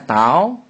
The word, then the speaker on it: tau: Nah, ini disebut tau. Jadi, bacanya tau nih.